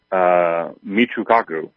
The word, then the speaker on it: Michio Kaku: Physicist, I'm going to butcher his name, Michio Kaku. I believe right. That's his name, how you pronounce it.